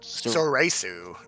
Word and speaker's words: Soresu: So how do you pronounce that? Soresu.